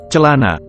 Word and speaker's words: celana: mean, when you say the letter C in pinyin, it's similar to this, celana.